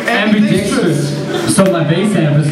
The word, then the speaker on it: ambidickstrous: How we pronounce that word? Justin. AmbiDICKstrous. AmbiDICKstrous.